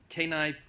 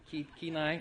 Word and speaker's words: Kenai: she comes to us all the way from Kenai, Pennsylvania, and Alaska. Did I say it right? Kenai?